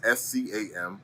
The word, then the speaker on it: Skam: And it's just generally pronounced scam.